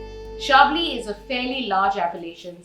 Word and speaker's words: Chablis: sure for chardonnay and sure for shabli so by now you know that the french like to pronounce their ch as sure rather than cheer chablis is a fairly large